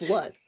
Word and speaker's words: Luz: I think it's Lutz, but that's like the German pronunciation. Okay, we'll say Lutz. I will get that right. If you want to anglicize it, it's Lutz, but I don't know.